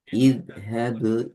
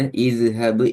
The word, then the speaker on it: اذهب: இத்ஹபு إذ இல ஃபிர்அவுன. إذ இது اذهب إلى ஃபிர் இந்த அழகா கலக்குறீங்க. இது ஃபிர். ம். இத்ஹபு இல ஃபிர்அவுன. இத்ஹபு இல ஃபிர்அவுன. இதுதான் அது சரியான உச்சரிப்பு.